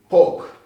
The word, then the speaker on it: poc: Then again, pork. Pork. Because yeah, sounds, you said the C, the normal C without the without the accent, it sounds like a K.